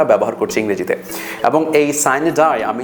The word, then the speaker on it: sine die: আমরা যেটাকে সাইন ডাই বলি এটা অ্যাকচুয়াল উচ্চারণটা হবে সাইনে ডাই।